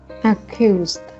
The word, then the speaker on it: accuse: pronounce the word accuse accused okay can you try pronouncing this word cute yeah cute okay so try to remember that sound Q like the letter q okay uh Hughes so